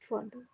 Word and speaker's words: father: Father. We pronounce this father. Father. Father. Okay. Yes, sir. Generally, we pronounce this also father. Okay. Mother. Sister. Okay. But we should not pronounce this R.